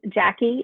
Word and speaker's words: Jacqui: for them um well my email address is Jackie and it's spelled j-a-c-q-u-i dot at b h